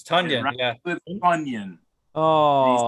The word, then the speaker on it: Tonyan: It's Tonyan, and it rhymes with Funyan, even though it's spelled with an O.